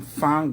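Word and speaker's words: Fahn: I'm Fon just like fam or fam. It's f ahn. Okay. You know, fam boy. It's f a h famidel. F a hn. But people say fon vago.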